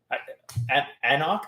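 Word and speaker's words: anCnoc: is really good stuff anak that's how you pronounce this these scots eh not silent in letters yeah a knock you don't knock yeah you don't pronounce the first c yeah yeah there you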